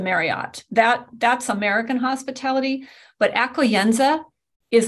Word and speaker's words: accoglienza: The word is accoglienza, accoglienza. I actually have a way you can pronounce it on my blog, accoglienza.